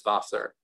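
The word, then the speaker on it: Wasser: so we have water german has vassar but it's spelled w-a-s-s-e-r so you can see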